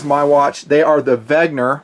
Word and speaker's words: Wenger: watch they are the Vagner I pronounce it with a V the German pronunciation C Force watches they